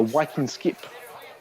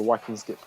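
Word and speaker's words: vikingskip: Norwegian you would actually be put on a wiing skip a what a viking skip okay that's that's how they that's how they pronounce it fa what we would call a Viking ship he a whing skip okay yeah the other the other bit of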